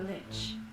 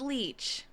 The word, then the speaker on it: lich: That man is possessed by neither a human nor a demon, but a lich. He's not possessed. That's his actual body. goodness. They actually said it correctly. They didn't pronounce it leach.